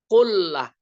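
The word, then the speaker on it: قُلَّة: Sabdanya yang menyebut kullatain, al-kullah bidommil qaf wa tashdidil lam. Kullah bacanya.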